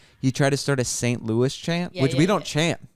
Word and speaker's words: St. Louis: we're not St Louis it's like it's like one word St Louis it's not Saint Louis I know but then